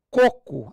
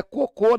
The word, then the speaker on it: coco: um picolé de coco essa palavra aqui ó é clássica pra você rala coco a sílaba tônica que não é cocô não colocou tem porque